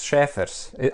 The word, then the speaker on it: Šēfers: First of all, I was just going to ask you the pronunciation of your name. Yes, it's Šēfers.